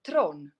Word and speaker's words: Theron: It's like Charlize Theron or Theron. But actually, Tron. That's how you would actually pronounce it in South Africa.